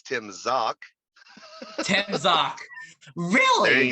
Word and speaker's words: Zach: But yeah, it's spelled like Zach, but pronounced Zock.